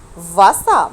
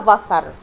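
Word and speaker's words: Wasser: فاسا. برافو، فاسا. حرف الار في الاخر لما بيجي مش بنطقه، هتبقى فاسا. طب ممكن تسمعها ازاي في المدرسه؟ تسمعها فاسر.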